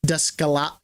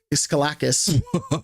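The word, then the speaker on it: Daskalakis: Dascala Descalakis Dascalakis. I feel horrible pronouncing his name because it's Greek.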